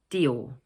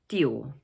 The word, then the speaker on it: Dior: The second word is also made up of 2 syllables, but the stress is placed on the second one, Dior. So it's Christian Dior.